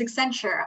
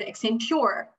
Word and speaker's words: Accenture: The company I work for, our name is Accenture. I've heard Accenture, not right, you know?